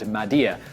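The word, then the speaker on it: m'aidez: somewhat unique word Mayday the anglicized spelling of the French pronunciation of the word Madia which means help me four years later in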